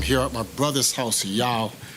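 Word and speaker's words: Yaw: I'm here at my brother's house, Yao, Y-A-W, that's how he pronounce his name, or spell his name as well.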